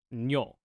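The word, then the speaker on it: にょ: But when you put the little yo next to it, it becomes one syllable, nyo.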